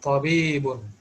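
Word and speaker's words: طبيب: yes, this is not like simple ta. This is simple ta, correct? And this is pa, means there is a, Oh, yes, there is some thickness in this pa.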